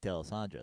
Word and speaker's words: D'Alessandro: There's 2 Nick D'Alessandros. So his doppelganger. So his name is Nick D' Alessandro. The original Italian pronunciation.